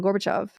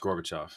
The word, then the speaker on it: Gorbachev: During a meeting of government officials, including Gorbachev, uh, it was I'm saying his name wrong. Gorbachev. Yeah, it's always pronounced Gorbachov. Gorbachov, which always makes me think of pork chops, and I'm not sure why.